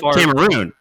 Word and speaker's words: Cameroon: which one cameron isn't cameron island well you're first the pronunciation is what's throwing me first off because you're saying cameron like james cameron you're talking about camera cameroon all right cameroon cameroon's not an island